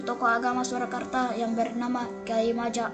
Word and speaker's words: Kyai Maja: agama Surakarta yang bernama Kyai Maja atau Kyai Mojo dalam pelafalan Jawa ikut bergabung ke pasukan